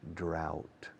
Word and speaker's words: drought: D-R-O-U-G-H-T. Pronunciation, drought. Like about, drought.